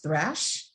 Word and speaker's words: Thrash: So this piece is by Dox Thrash. I believe is how you pronounce the last name, Thrash.